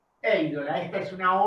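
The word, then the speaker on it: εἴδωλα: Bueno, el acento, lo sabemos, lo recordamos, el acento en el segundo elemento de un diptongo en griego, pero se pronuncia en el primero, ¿no? Eidola. Eidola, esta es una O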